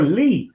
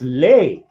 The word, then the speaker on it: Lee: me no no no you are lee that's lay oh the pronunciation of l-e-e was late and they're like going you're not lee that's that's lay not lee and i'm like dude i'm that's my name lee my name my name